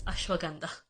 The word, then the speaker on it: ashwagandha: Like ashwagandha and Himalayas, it's Himalayas, and it's ashwagandha.